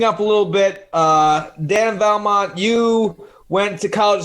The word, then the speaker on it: Vallimont: Yeah, Vallimont. Some people miss the I a little bit with it, but that's what I was going to say.